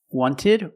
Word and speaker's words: wanted: Americans will say 20 wanted or wanted it's more common to hear Americans say wanted you have NT in